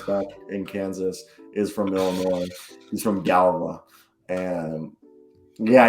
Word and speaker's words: Illinois: Like, I've learned that it's Illinois, but like you go to the East Coast and they're like, oh, you drive through Illinois? Oh, do they pronounce the S?